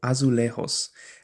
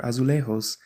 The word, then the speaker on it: azulejos: Specifically, excuse me if I'm not pronouncing this right, but I'm going to say this in the Spanish pronunciation. It's called azulejos.